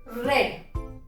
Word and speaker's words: read: क्यों नहीं यूज किया, तो स्पेलिंग सेम होती है पर इसको हम लोग प्रोनाउंस कैसे करते हैं, रेड।